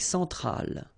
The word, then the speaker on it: centrale: L'Amérique centrale. Same thing here. Centrale, remember, E-N, nasal, so it goes in your nose.